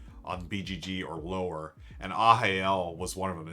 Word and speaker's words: Arraial: The third one I'd recommend is Ahael.